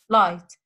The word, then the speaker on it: light: So it's light. The G sound is silent.